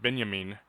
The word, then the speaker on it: Benjamin: i had to cr pronounce it benyamin and it just occurred